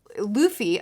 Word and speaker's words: Luffy: Luffy apparently is how you say his name.